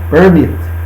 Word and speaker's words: permit: To permit, também a sílaba tônica é o mit, permit. Permit.